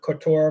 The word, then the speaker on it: Kotor: a home in this the old town of kotoro Montenegro k-o-t-o-r is how it's spelled yes and actually our link for our